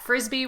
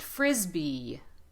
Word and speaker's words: frisbee: created this lesson that frisbee was a brand name but it is when you pronounce it put a lot of emphasis on the first syllable and drag the vowel at the end so not uh the